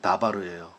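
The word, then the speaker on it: דבר: DBR이 뭐냐면 다바르예요.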